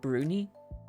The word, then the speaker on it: brownie: Then next was a I said brownie, but it's pronounced bruni.